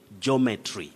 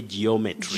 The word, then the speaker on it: geometry: our dear viewers that we don't say geometry it's very common but we have the glide you say geometry geometry geology geography not geometry geology geography we should avoid that all right you begin with your sounding geo geometry geology geography all right